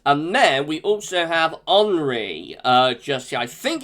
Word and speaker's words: Henri: are we not henry it looks like it's sort of the french um a french spelling with an i rather than a y so i'm pronouncing this henry i know some people um uh pronounce it henry but i think that it's like the french french pronunciation so that's how i'm gonna pronounce it um but whatever it